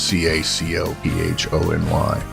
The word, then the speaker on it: cacophony: Well, the word cacophony is a good one because most people don't know that that's how it's pronounced. Cacophony.